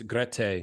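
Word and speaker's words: Grete: more if you want to how do you pronounce her name by the way it's gret so g r t te everybody says Greta but it's not it's gret okay um but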